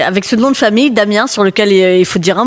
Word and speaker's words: Damiens: Euh Damiens avec un S parce que là-bas on prononce tout avec un S.